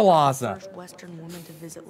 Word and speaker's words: Lhasa: My journey to Laz. I want to go there. You pronounced that so wrong, Jack. Oh, I want to go to Lhasa.